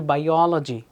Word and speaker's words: biology: cruelty, geography, তাই philosophy, biology, অনেকে বলে biology, but it should be biology.